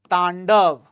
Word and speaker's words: Tandav: It's very important to have the correct pronunciation. That's why I am also writing that in Sanskrit. So read it as it is written in Sanskrit.